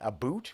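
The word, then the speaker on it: Ubud: you're specifically you're staying you say a boot which is a fantastic Name by the way sounds like Canadian how about that yeah but it's spelled like u b u d oh even better I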